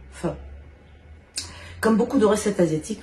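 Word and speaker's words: phở: une soupe le faro ça s'écrit ph haut et vous prononcer fin comme beaucoup de recettes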